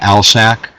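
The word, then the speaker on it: alsike: medium red clover uh Aly Clover which is pronounced in this area alsac Clover and then uh yellow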